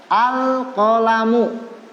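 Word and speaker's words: القلم: Al-qalamu. Al-qalamu. Huruf qaf ini termasuk huruf qamariyah. Al-qamariyah sekali lagi adalah alif lam yang kemasukan huruf qamariyah. Cara membacanya, alnya ini dibaca jelas. Al-qalamu.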